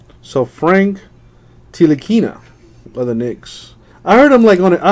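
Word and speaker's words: Ntilikina: Knicks player here now he says that n is silent so Frank teal akina by the Knicks I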